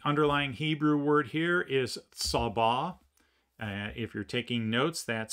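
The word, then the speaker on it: צבא: The underlying Hebrew word here is sabbah. If you're taking notes, that's spelled S-A-B-A, sabbah.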